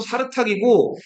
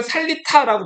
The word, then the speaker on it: 사르탁: 이건 몽골어로 사르탁이고 일본 사람들은 이 사르탁을 살리타라고 발음했거든요. 그래서 우리는 살리타라고 더 많이 알고 있죠.